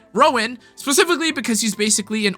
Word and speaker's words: Rowan: pretty much no utility offensive support quite like Ruan Rowan why can't I say his name right Rowan specifically because he's basically an ultimate energy battery